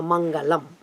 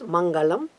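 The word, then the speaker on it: मङ्गलम्: We use that La, like a Lata. So Mangalam. That is also correct. So either you use Mangalam or Mangalam if you articulate with the Vedic pronunciation, perfectly correct, and also Kuja.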